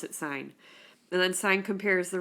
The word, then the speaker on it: sine: it it looks like sin but if you pronounce it sine and then sign compares the ratio of opposite